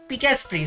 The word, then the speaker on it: Paspree: I think Pas Paspree, sorry, that's how you pronounce his username because his name is Aspree.